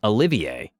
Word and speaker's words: Olivier: my friend playing oliver was insistent on the pronunciation olivier a high elf wild